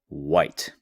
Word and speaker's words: white: And now we have the color white. This has a wh but the h is making no sound.